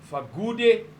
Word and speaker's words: Fakude: You know, in some black languages in South Africa, when written, a K is pronounced like a G because the languages are very nuanced. There's more than one sound for what we see as one sound.